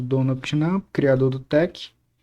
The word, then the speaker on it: TeX: Por sugestão do próprio Donald Trump, a pronúncia deve ser tech e não tex.